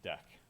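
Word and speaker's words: deque: a deck all right this is pronounced deck right that's not dick or whatever like that uh it's deck right and basically it's a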